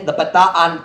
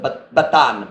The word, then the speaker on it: Bataan: The Bataan Peninsula, everyone in America pronounces it Bataan, but I know it's Bataan here.